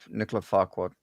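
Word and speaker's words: Nicolas Fouquet: Um I believe that uh Nicola Farquad instead the king decided to you're saying it correctly by the way.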